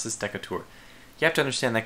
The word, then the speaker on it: Decatur: Decatur sorry a bit I always pronounce this deck of tour you have to understand that comes from the fact that this it like the American pronunciation would be Decatur that's good you got I almost say with